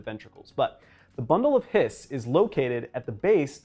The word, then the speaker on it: His: bundle of His now it may look as though it should be pronounced his instead of hiss it's actually named after